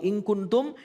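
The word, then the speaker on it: إن كنتم: Au, tapi ketika nun mati bertemu kaf pada kata inkuntum. Maka yang keluar adalah. Suara eng, bukan m. Tapi eng, jadi inkuntum. Tadi mbaknya masih membaca. In, bukan ing. Yang benar adalah.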